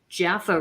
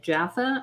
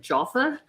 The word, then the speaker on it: Jaffa: And I talked about the Jaffa races, but at the time I wasn't pronouncing it Jaffa, I was pronouncing it Jaffa.